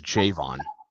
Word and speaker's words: Javon: pronounce his name correctly what his first name is Javon Javon Javon Baker yeah Javon Javon